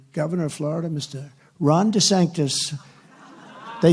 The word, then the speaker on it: DeSantis: on a program Ronda sanus his name is DeSantis but they had him on a program ladies and gentlemen we're proud to have the governor of Florida Mr Ron DeSantis they said no no no it's DeSantis that's good branding right when they can't even